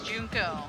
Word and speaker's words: Junko: kill oh i'm sorry it's junko huh i do not sully my hands to